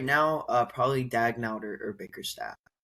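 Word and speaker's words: Daigneault: H I mean you can you can go Mark Mark Dnot right is how you say it for the Thunder Dagnau.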